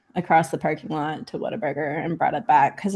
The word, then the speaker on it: Whataburger: the parking lot to Whataburger and brought it back because apparently that's what Texans do I don't know yeah I think you're supposed to pronounce it water water burger water burn oh by